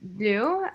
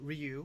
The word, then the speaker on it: Ryuu: am a japanese ascent which is why my name is pronounced do instead of how it looks phonetically otherwise like most people they pronounce it ryu or something like that kind of weird um